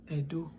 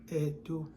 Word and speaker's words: Ędo: The letter E that has diacritic is pronounced as E. Yeah, it's pronounced as E. And the closest example for that is Edo. Edo, which is spelled as E-T-O.